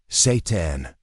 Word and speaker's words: seitan: Seitan, a wheat meat, minus 39 grams of protein per 100 g. No, that's not a typo. And no, we're not talking about anything evil. Seitan, pronounced seitan, is a plant-based protein